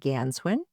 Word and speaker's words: Ganswindt: We've got Forest Ranger Captain Nancy Ganswin. The T is silent and forest ranger Chuck Cabrell.